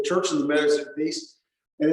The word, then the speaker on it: Wies: So remember, in German, when you see a W, it's always pronounced like a V, and V's are pronounced like W's.